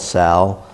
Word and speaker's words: SAL: Again, we call it SAL. It rhymes with PAL, and of course everybody's very familiar with the police athletic leagues.